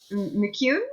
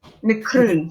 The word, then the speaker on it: McCroon: We get McCune. Is that it? Mikaroon. McCroon. Sorry. Oh, I've been saying it wrong.